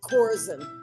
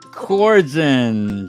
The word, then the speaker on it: Korzen: hi Daniel how are you my last is pronounced coren coren sorry so welcome to book 101 Miss Annie coren and can you please introduce more about yourself